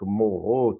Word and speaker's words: Mauro: diretor de tese, Frédéric Moreau, se escreve Mauro, se pronuncia Moreau, era um discípulo do